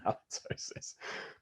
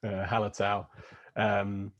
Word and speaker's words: Hallertau: It's not halitosis. Hallertau. Probably pronouncing that wrong.